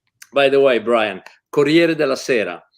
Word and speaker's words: Corriere della Sera: but maybe with Italy, apart from the impeccable pronunciation of Italian names. By the way, Brian, Corriere della Sera.